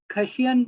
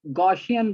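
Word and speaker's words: Gaussian: खशियन blur कोई लफ्ज नहीं है, गॉशियन ब्लर लफ्ज है।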